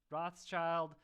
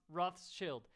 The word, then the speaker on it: Rothschild: the first annual uh rothschild uh sorry ra rus roth's chilled yes apparently we americans say uh say rothschild wrong but uh i don't